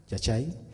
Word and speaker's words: Yachay: La pregunta es, ¿cuál es el aporte del proyecto Yachay, se pronuncia así, Yachay, a la educación en Ecuador y en Latinoamérica?